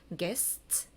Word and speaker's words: guessed: 그러면 얘는 무성음으로 끝나니까 이 ed를 로 발음해야 되겠다. 그래서 guessed 이렇게 되는 겁니다. 그러니까 ed 앞에 이게 무성음이면 이 ed 소리가 t로 나는구나.